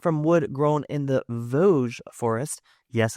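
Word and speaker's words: Vosges: And these were crafted from wood grown in the Voge forest. Yes, I love the pronunciation of that because it's not spelled like that at all.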